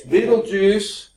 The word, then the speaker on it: Betelgeuse: Okay, it's Beetlejuice, which is BETELGEUSE. Now, there's actually a movie named that. I can't think of the actor. He was a real funny actor that did it. Beetlejuice.